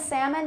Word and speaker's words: salmon: half salmon palm almond now half and salmon they never have an l that's produced or that's sorry that's pronounced but palm almond can